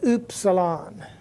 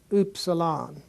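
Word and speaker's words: upsilon: the English U H it'd be pronounced like the U and the word fruit for uit the oot the fruit it's this word oopsalon um the next word is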